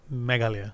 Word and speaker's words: Meghalaya: I was able to go in the state of Meghalaya.